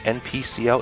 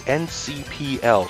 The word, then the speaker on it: NCPL: I realized too ncpl I've been saying npcl it's ncpl so I'm saying it right right here to correct